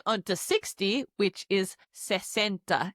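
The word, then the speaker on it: sesenta: Moving on to 60 which is centa.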